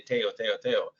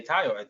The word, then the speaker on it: Tayo: if someone says something, my name often gets mispronounced. For example, people say Tayo, and instead of Tayo, right? But then it's like, when you say Tayo, sorry, it's not Tayo, it's Tayo.